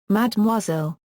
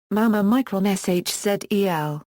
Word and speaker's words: mademoiselle: Pronounced, Mademoiselle, or, Mama shzel.